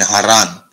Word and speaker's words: Haran: nahur and haran so there we see Abraham or Abram and haran that is the correct pronunciation for those terra's descendants now in